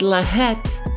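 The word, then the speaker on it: לַהַט: And for that in the blue letter Bible the Hebrew word is H3858 and it's pronounced laet and it means flaming enchantment flame of an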